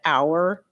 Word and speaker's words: hour: So I said, are you seriously telling me you pronounce the H in honest and hour and air?